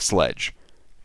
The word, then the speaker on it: Slecg: SLECG is sledge. It's pronounced like sledge.